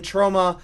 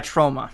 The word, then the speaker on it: Troma: it's technically only uh i kept mispronouncing the word in the interview uh distributed by troma there we go that's what it sounds like to me so it's it's